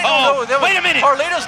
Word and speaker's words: Carlito: It's Carlito.